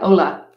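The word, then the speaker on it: olla: about and they are spelled oh look like Ola oh yeah you don't pronounce the elves anyway if you just fill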